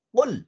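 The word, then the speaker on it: قُل: Qala yaqulu qul. Nah, pakai qaf.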